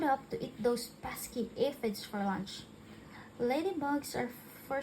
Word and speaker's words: aphids: It was a pretty sad day when the aphids, pronounced as aphids, okay, arrived.